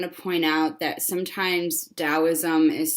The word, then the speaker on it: Taoism: point out that sometimes Taoism is spelled with a T. If you see Taoism spelled Taoism or just the word Tao with a T, it is still pronounced with a D sound.